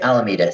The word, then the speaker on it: Alameda: And so when did uh Alameda come about? And I am pronouncing that right, yeah? Yep. Yep, Alameda.